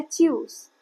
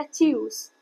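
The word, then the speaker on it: Tschüss: इसका प्रोनाउंसिएशन होता है चस। चस जैसे हमने बताया था टी एस सी एच च होता है तो यह हो गया चस।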